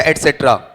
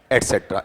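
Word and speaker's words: etc.: देखो, ये है DENGUE, और उसे ETC पढ़ोगे या एटसेट्रा, एटसेट्रा, ETC नहीं पढ़ना चाहिए, उसे एटसेट्रा ही पढ़ा जाएगा।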